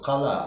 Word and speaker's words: Кала: Именно так надо произносить Кала. А если по-русски это произносит Кала, это означает голова. Наш народ не понимает это.